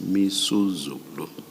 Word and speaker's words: Misuzulu: I mispronounced the King's name is Misuzulu.